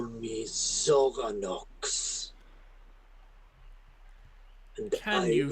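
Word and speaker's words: Xoranox: need to address you you will call me zorox can you spell that uh zorox is x o r a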